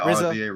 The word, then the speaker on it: RZA: Ironically enough, alongside, is it Raza or RZA of the Wu-Tang Clan? I don't always know how to pronounce that name. Yeah, RZA.